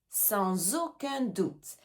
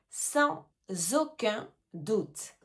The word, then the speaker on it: sans aucun doute: Sans aucun doute. He, on fait bien la liaison. Sans aucun le S est suivi d'une voyelle. Sans aucun doute.